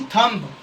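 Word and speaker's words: thumb: टी एच यू एम बी थंब। जिसमें क्या है, एम के बाद बी आ गया तो बी साइलेंट है।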